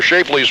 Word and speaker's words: Schaeffler: There are two Shafleys, or Shafleys rather, that's the correct pronunciation, Tim Schaeffler, and also Dan Schaeffler will be seeing action.